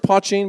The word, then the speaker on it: poitín: So it's pronounced poitín, by the way.